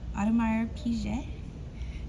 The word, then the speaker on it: Audemars Piguet: And how do we pronounce this? Audemars Piguet.